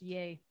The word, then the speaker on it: Ye: says it's YE, and then it says to be pronounced YAY.